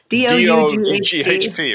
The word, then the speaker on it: Doughp: It's D-O-U-G-H-P, right. There you go, yeah. So it's like dough with a P on the end. Sometimes people don't get how to pronounce it until I say it out loud too.